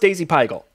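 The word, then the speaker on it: dasypygal: whoa yeah daisy pickle daisy bagel it's it's pronounced daisy pigel but it's but yeah it does look a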